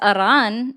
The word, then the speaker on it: Iran: Why would you roll your R for Iran? Because Aran is the correct pronunciation.